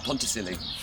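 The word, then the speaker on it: Pontcysyllte: Llangollen Canal, which is going to take us to the aqueduct, which is called the Ponticili. But the Welsh don't say it like that, but I couldn't even begin. Ponty is the easiest word.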